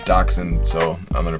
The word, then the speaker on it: Dachshund: For this next joke, I thought it was Dachshund as the dog's name, but I looked it up on Google Pronounce and it said it's Dachshund, so I'm gonna pronounce it the way that Google tells me to.